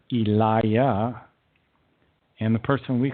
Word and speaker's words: Elijah: Hebrew prophets for example Elijah was actually known as Eliah and the person we